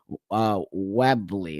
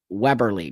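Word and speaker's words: Webberley: Let me just give you a little background on Dr. Webley. Is that how you pronounce her name? Weberly, Dr. Weberly.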